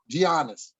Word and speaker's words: Giannis: mention was gian johnny giannis giannis the g is silent like a lasagna that's a good